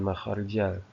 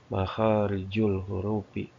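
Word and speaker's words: مخارج الحروف: Nah, ini bukan makharjal. Ini bukan makharjal. Salah ketik ya. Ini sebetulnya yang betul itu dibacanya yang tepat. Makharijul hurufi bacanya domah.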